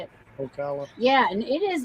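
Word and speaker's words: Ocala: Florida kala kala how do you say it Okala yeah and it is like a diesel but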